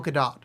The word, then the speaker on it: Gadot: Oh, it is Gadot. She is Israeli, and you're supposed to pronounce the T.